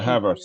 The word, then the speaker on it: Havertz: Against Denmark, is it Havertz? Is that his name or pronunciation? Yeah, Havertz, yeah.